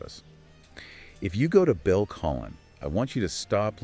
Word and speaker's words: Colline: Now, usually when people talk about Colline, and it's pronounced Colline, for those taking notes, they are just obsessed with the skyline.